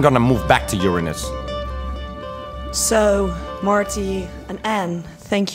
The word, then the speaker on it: Uranus: people but alien people Uranus that's rude no it's pronounced Uranus oh Marty it's not have it's it's not about anus it's about urine it's Uranus so and